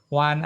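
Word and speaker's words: 弯: Wan artinya membongkok atau membelok. Wan itu bongkok atau belok juga sama, ya. Bacanya ada wan tiseng, maka kita bacanya wan, ya.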